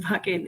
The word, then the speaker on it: Wacken: Wacken, pronounced Wacken in Germany.